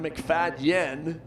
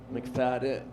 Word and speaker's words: McFadyen: And the last name is not spelled the way you think it might be. You might think it'd be an McFadden. How about an McFadyen? But you don't pronounce it that way. It's not McFadyen. McFadden.